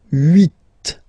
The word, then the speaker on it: huit: Okay, then here final T is pronounced, so huit, huit.